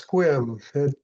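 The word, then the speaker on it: Sequim: It's pronounced Squim.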